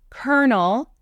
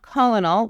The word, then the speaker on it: colonel: doctor Reverend sergeant lieutenant colonel not colonal which is what I said as a child Colonel captain and Professor now